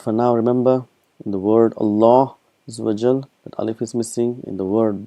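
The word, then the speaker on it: الله: we know see here this alif is actually omitted is Allah is pronounced as Allah what is written us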